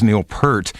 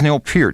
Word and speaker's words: Neil Peart: have been known in rock and roll as Neil Per. And I was told that the the real pronunciation is more pert. Is that correct? That's it. That's correct. So it is Neil Pier.